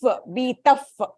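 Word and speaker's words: भीतः: So you have to give that if sound.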